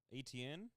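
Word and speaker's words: Etienne: you say a ente ente Jun what Jacksonville ATN ATN yeah I was like who etn it's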